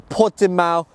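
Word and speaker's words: Portimao: These include black sapphire, mineral white or grey, sunset orange or pot de mal blue. Is that how you pronounce that, Andre?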